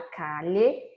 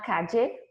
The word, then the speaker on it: calle: Eu expliquei para vocês que as possíveis pronúncias de la doble L, que são o dígrafo, ele são a repetição da letra L duas vezes, eu posso dizer la calle, com LH, la calle, com DJ, com som de DJ,